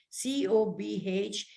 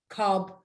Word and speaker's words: Cobh: Is a town of Cobh, C-O-B-H, as you might say, reading your itinerary, Cobb or Queenstown. Cobh is a Gaelic word, and the reason it is pronounced is spelled C-O-B-H because there is no V in the Gaelic language.